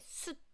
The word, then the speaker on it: 숯: There's no T sound at the end.